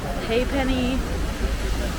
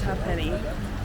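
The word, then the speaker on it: Ha'penny: peny bridge and uh other people say it hey Penny ha Penny it's spelled like this so you can understand why people are confused but the native Irishman that we had for our tour guide said it was half penny so that's that's how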